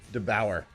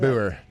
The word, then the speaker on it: DeBoer: DeBauer. Are we accepting that? We'll accept- DeBauer. Yeah. Kalen DeBoer. We accepting that? DeBauer. Yeah, because I feel like he's faking saying it wrong.